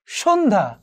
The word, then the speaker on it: সন্ধ্যা: কিন্তু পরের রুলসটা একটু খেয়াল করে দেখো, যুক্ত ব্যঞ্জন বর্ণের সাথে যদি আবার জফলা যুক্ত থাকে, তাহলে সেই জফলার উচ্চারণ হবে না। যেমন ধরো সন্ধ্যা, এখানে উচ্চারিত হয়নি।